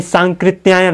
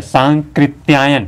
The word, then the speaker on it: सांकृत्यायन: उच्चारण करते हैं राहुल सांकृत्यायन संस्कृतियों ने संकृत्यायन होता है संकृत्यायन यह जो आधा हिस्सा यहां पर दिख रहा ना यह नहीं है बाकी सब है संकृत्यायन है कि सांकृत्यायन यह शुद्ध होता है जागृत जागृत नहीं